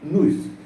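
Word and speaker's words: νοῦς: descobre a anaxágoras o em grego Nis Nis n o u s se pronuncia Nis Nis o Nis é o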